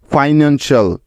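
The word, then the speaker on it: financial: এল, এই চারটি বর্ণ, যাদেরকে আর ভাঙা যাবে না, কারণ এরা হলো একটি ওয়ার্ড প্যাটার্ন যার উচ্চারণ সবসময় হয় শাল এর মতো। মনে আছে তো সবার? তাহলে এই শব্দটির উচ্চারণ কি পেলাম আমরা? এফ আই ফাই, এন এ এন নেন, এবং সি আই এ এল শাল, ফাইন্যান্সিয়াল। ফাইন্যান্সিয়াল অর্থ হলো আর্থিক বা অর্থ।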